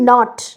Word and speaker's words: knot: ইট ইজ নট an, that is silent, KNOT, এটা typographical mistake হয়েছে এখানে, কিন্তু কেটা ইজ the word which is নট pronounced, তাই না, আমরা প্রোনাউন্স করি নট, তাহলে কের কোনো প্রোনাউন্সিয়েশন হচ্ছে না, এটা নোট করুন, এটা